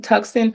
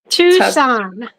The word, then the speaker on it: Tucson: Tuxen, guys. How you say it, Lori? How you say it? Tucson. Tucson. Yeah, everybody knows. Everybody knows Tucson. I mean, I've heard of it, but when I see it written down, it's like different.